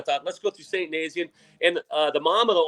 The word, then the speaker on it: Nazianz: Okay, Nazianz and then you've got but it doesn't it doesn't spell that way or sound that way. Yeah, no, no, this this spell the spelling of that town is off-putting at best.